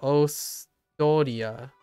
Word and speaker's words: Austria: I'm pretty sure it's like Ostoria with one less syllable.